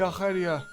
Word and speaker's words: Arcadia: His next target had to be Arcadia. I'm only pronouncing it like that because, well, there's a region in Greece called Arcadia.